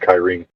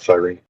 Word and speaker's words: Cyrene: Apparently online, it's pronounced Kyrene, not Cyrene.